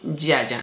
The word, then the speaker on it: Ziaja: Y dicen Yaya. Entonces entiendo que es la correcta pronunciación de la marca Yaya. Esto es un tónico, este es de la línea Acai Berry.